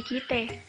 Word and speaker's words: kite: Pengucapan E yang dimaksud bukan E pada kata negara, melainkan E dalam kata emansipasi. Contoh, kita menjadi kite, ana menjadi ane, dan lain-lainnya. Selanjutnya itu yang kedua, kepercayaan Betawi.